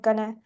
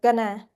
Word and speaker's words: going to: So in informal speech going to often pronounce gonna when it is used with another verb to show the futures and do not use going to pronunciations when going is a main verb. Okay. So we have an example here. When are they going be in cho? So we will u pronounce the word going to pronounce gonna to be gonna right.